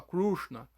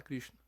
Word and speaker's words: Krishna: tá falando que lá eles têm dificuldade de pronunciar o i né eles fala krushna não fala Krishna e qual que aí